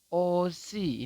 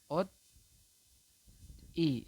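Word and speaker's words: 옷이: Maka di sini kita membacanya adalah osi ini ya, osi atau latinnya adalah o si. Seperti itu teman-teman. Kalau yang ini, kalau Anda belum mengetahui tentang aturan baca yang nomor satu, maka kemungkinan Anda akan membacanya adalah ot i, seperti itu ya. Ot i, betul, seperti itu.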